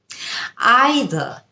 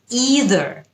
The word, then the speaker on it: either: প্রথম শব্দ আইদার। ইদার আইদার এটা হচ্ছে ব্রিটিশ উচ্চারণ এবং ইদার এটা হচ্ছে আমেরিকান উচ্চারণ।